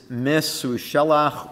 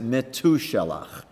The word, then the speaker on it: Metushelach: The 8th name on the list is Mesushelach, or you might pronounce it Metushelach.